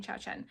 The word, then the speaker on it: Xiaochen: It's Vivian Xiaochen.